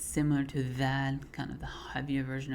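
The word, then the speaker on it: ذ: So they come from the same spot, but you will frown when pronouncing dha and smile when you pronounce dhal.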